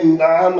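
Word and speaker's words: نعم: नाम means yes, ये नाम नहीं है, ये नाम है, नाम ऐन है। तो इसको हम प्रोनाउंसिएशन भी साथ में ठीक करेंगे, बोलेंगे नाम, यानी नाम नहीं बोलेंगे, यानी तलफ़ुज़ हमारा सही होना चाहिए।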